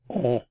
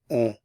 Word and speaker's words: on: It's pronounced on. You're just pronouncing the vowel on, and it's nasalized, so on, on. The N isn't pronounced.